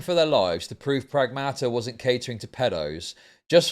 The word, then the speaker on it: Pragmata: So I've been pronouncing that game name wrong in here. I thought it was Pragmata. It's Pragmata.